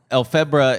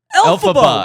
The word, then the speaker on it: Elphaba: Elphebra is like, fucking help me, what's her name? Elphaba.